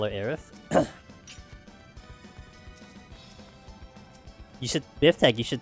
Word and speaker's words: Aerith: It's like, you know, it's Aerith, not Eris.